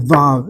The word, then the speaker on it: vav: Write down w a w because the original vav is w and as Ellie will remind me again or the tman probably do a w sound which they do and it's pronounced by certain Jews who have ancient Hebrew pronunciation as a w.